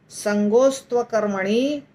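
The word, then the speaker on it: सङ्गोऽस्त्वकर्मणि: संगोस्त्वकर्मणि, संगोस्त्वकर्मणि, इसको हम तीन भागों में बांटेंगे, संगो अस्तु अकर्मणि, संगो अस्तु अकर्मणि।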